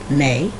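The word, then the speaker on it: Mae: general so m-a-e then when word ends in e it tells you to pronounce the vowel that comes before like a long a a a i a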